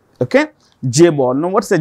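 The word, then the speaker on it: chaebol: it is pronoun with pronounced with a J okay J Ball now what's a j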